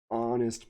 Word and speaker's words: honest: here's this other case honest person honest person why do we say an honest person well that's because this sound is well first of all we can say the H is silent so when we transcribe